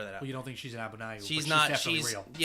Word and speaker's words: Abnauayu: Abna- Abnayu. Okay. So, the Zana story I don't think is real. 100%. Let me just throw that out. You don't think she's an Abnayu?